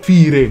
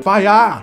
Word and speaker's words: Faia: Sono stato con il gruppo di Charlie, ho conosciuto di persona finalmente anche Matteo Fire. Quindi facciamo anche il signor Matteo Fire. Fai a! Si pronuncia fai a!